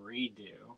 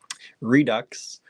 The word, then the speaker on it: Redux: for about 100 years I kept saying redo redo I thought it was French Redux and um let me